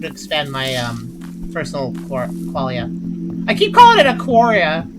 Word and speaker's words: qualia: It's spelled sort of like quality, but it's qualia.